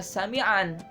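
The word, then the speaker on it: سميعا: Contohnya sami'a, dibacanya aslinya adalah sami'an, tapi karena dia waqaf jadi sami'a, alima, basira, gitu ya.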